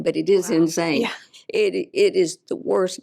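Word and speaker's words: Insein: the main prison there the name of it is insane which is spelled inss i n but it is insane it it is the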